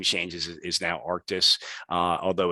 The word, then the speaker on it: Arctis: So you see all our name changes is now Arctis, although it's spelled Archtis, but Arctis is the way we say it.